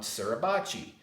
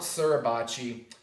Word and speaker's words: Suribachi: Iwo Jima was a peak known as Mount Suribachi. So Mount Suribachi, you spell that S-U-R-I-B-A-C-H-I.